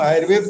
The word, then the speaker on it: आयुर्वेदा: तो आयुर्वेदा, या उसको उच्चारण आप आयुर्वेदा कर लें, एक मात्रा बढ़ा करके आयुर्वेद से आयुर्वेदा, जैसे योग को योगा कर दिया, ये ठीक है, यहाँ तक तो स्वीकार्य है।